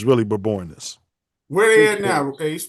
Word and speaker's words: Bourbonnais: It's Bourbonnais. I'm just telling y'all the correct pronunciation, just because y'all cooning y'all whole life. Some people say Bourbonnais, but it's really Bourbonnais.